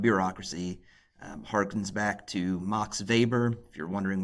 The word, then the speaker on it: Weber: If you're wondering why it isn't Max Weber, it's because he's German, and he seems to be one of the German thinkers who the whole world has decided they are actually going to pronounce his name correctly, so good for Max.